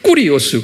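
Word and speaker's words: κύριος: 이게 꾸리오스 그래요.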